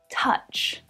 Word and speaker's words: touch: Now the OU in this word looks like it should probably be pronounced ow, like in the word couch or doubt, perhaps. But listen to the pronunciation because the vowel sound is different. Touch, touch. So touch is pronounced with an vowel sound, not the ow vowel sound. It's as in up.